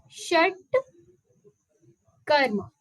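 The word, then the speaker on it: shatkarma: we will look here how it could be pronounced shut Karma okay again this is a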